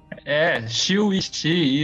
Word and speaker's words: Chiu Yi Chih: Pronunciei direito? Chiu Yi-Xin, isso.